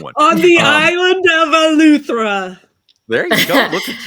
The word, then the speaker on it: Eleuthera: On the island of Eleuthera.